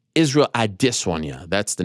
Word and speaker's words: Israel: case you make say his name correctly it's Israel I disown you that's the name thank you